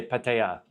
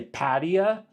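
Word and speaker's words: Pattaya: So I usually say patea, and then most Thai people say patea. Patea. It's not like I'm miles off, you know what I mean? I feel like, there's a lot of guys that say patia too. I feel like that's further off. I've never heard a Thai person pronounce it anywhere near that.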